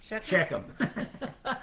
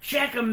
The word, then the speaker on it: Shechem: The people of Beckham, how do you pronounce that? Shechem. Shechem made Abimelech their king, and they did it by the culty pillar in Shechem.